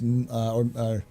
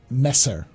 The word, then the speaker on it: Messer: Monsieur, yeah, but it's not Monsieur, it's Messer, it's or Mr. It's Messer.